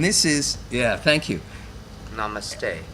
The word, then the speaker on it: namaste: is yeah thank you namaste namaste yeah it rhymes with no money good very good so